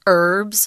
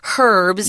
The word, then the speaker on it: herbs: knew how to use herbs or as you would say herbs yes they're both correct pronunciations they were viewed as